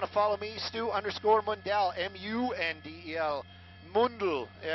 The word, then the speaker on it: Mundel: If you guys want to follow me, Stu_Mundel, M-U-N-D-E-L, Mundel, but there's no dots over the U anymore.